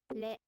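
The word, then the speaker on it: れ: difficult to pronounce, because you would think that it's like in English, ra, ri, ru, re, ro, but they are a little different. La. Ri. Ru. Le.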